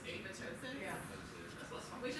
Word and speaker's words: apoptosis: I think I had a class in graduate school where apparently the second P is silent. Apoptosis. It's apoptosis.